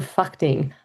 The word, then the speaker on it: Phakding: What that means is first you arrive in Lukla and you'll see you actually go downhill to a place called Phakding. I know I did actually pronounce that right.